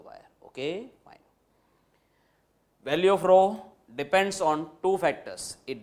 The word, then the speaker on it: rho: This symbol is to be pronounced as rho. It's a Greek letter, okay? And the spelling is RHO, rho.